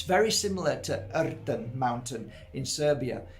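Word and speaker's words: Rtanj: And when I got to the top of Erten mountain, I have to say it like that because that's how you say it.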